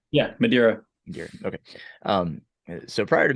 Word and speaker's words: Madeira: to Madeira um am I saying it right Madeira yeah Madeira okay um so prior to Madeira what would